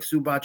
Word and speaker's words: Zubac: I like Zubac as a player. I really do. That's how it's pronounced.